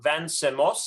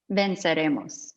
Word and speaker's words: Venceremos: And then finally, we have Jen Guerrero from Vancemos. I'm pronouncing that right? Vancemos? Venceremos.